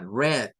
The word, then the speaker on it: read: con ese sonido pero el verbo read para el pasado se escribe igual pero su pronunciación es con una e y suena como el color rojo del inglés suena a red es decir si alguien